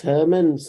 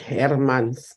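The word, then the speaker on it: Hermans: chairperson uh my name my surname is pronounce Herman's not Afrikaans way that you say it I'm not hair months I'm Herman's on a lighter note it's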